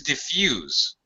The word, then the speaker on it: diffuse: The first one is diffuse with a Z sound, and the second one is diffuse with an S sound, diffuse.